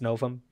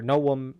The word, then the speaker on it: novum: And that is an abbreviation of the Latin, which would be genus et species novum, or novum, if you pronounce it the way the Romans did, which literally just means new genus and species.